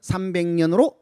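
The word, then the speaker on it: 삼백연: 하고는 다른 뜻이 되죠 그러니까 발음은 보니까 300연 돼 있지만 발음을 우리는 뭐냐면은 자음 변용 법칙이 있잖아요 그러니까 300연 쓰지만 300년 발음이 되는 거죠네 그다음에 그 뒤에는 원한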